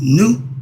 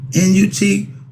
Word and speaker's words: Nut: When they call Newt, N-U-T, nut, drives me crazy.